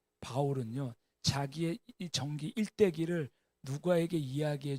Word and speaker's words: 바울: 사울은 히브리시 발음이고요. 바울은 헬라식 발음입니다.